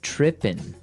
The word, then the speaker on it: tripping: So they started talking about girls, and he mentioned that this girl started tripping. Trippin'. Tripping. So to trip. Right. As you notice, it's trippin'. It doesn't have the G at the end, which isn't really grammatically correct, but that's kind of the way it's pronounced.